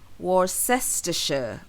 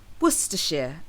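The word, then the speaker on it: Worcestershire: pronounce this word now people often look at the spelling and try to pronounce it based on how it's spelled so they often end up saying war sester or warshire however it's actually pronounced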